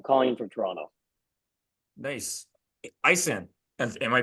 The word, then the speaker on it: Aisen: Aisen. Am I pronouncing that right? Yeah, that's right. Hey, I'm Aisen.